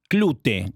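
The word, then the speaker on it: Klute: Sí, voy a decir este Clut, Clute se pronuncia de Alan J Pacula, una película con Jane Fonda y Donald Saterland, una película de detectives.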